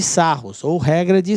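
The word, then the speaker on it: Sarrus: Essa regra é conhecida como regra de Sarros, ou regra de Sarri, tá?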